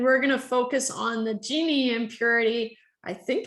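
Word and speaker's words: Gini: gonna focus on the genie impurity i think it's pronounced genie i never looked it up but i prefer to call it genie because it's so cute it's like genie in a bottle uh and so uh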